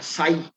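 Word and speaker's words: psi: क्या ps6 लेते हैं इसमें थी साइलेंट होता है साईं साईं इज the great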